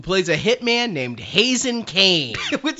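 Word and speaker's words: Kaine: It's spelled K-A-I-N-E. In English, right. That's Kane. It's Kane.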